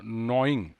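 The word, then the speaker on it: gnawing: Besides इसके अलावा there was अ नॉइंग, यहाँ भी जी साइलेंट है, नॉइंग fear of further defeats.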